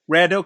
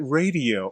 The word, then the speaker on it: Raddeaux: Raddeaux, because you know my wife's like, well, maybe he pronounces it radio. I'm like, no.